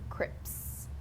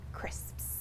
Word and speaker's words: crisps: for Learners of English it's the sound at the end crisps you'll find a lot of people mispronouncing them as Crips Crips when they should be crisps so here is the